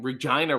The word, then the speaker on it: Regina: have to tell them no no it's pronounced how you don't want to say it number one number two